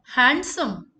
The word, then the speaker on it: handsome: Handsome. Handsome. Handsome. D is silent.